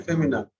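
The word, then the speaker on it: fémina: So if you write F-E-M-I, femi, N-I-N, I-N is an, so it is femina. That is the right pronunciation, femina.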